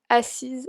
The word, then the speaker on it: assise: Entonces ven que cuando hay doble S se pronuncia S. Cuando solo hay una se pronuncia Z.